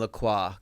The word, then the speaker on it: Lacroix: There's a designer named Laqua, Christian Laqua, and he was huge in the 90s.